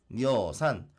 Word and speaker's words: 여산: 굽어보고 있습니다 그런데 여기서 여산 뭐 두음법칙으로 하면 여산이라고 우리 지금 발음하죠 이것도 중국에 있는 산인데요